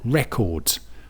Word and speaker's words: record: And again, for the noun, it's just like the previous word. We've got record. Record, big sphere, signifying the stress on the first syllable.